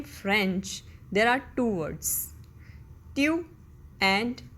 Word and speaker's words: tu: Okay, the next singular subject pronoun is tu. Tu. That meaning is you. In English, we have only one way of saying you. But in French, there are two words, tu and vous.